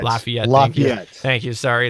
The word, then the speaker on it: Lafayette: Lafayette. Lafayette.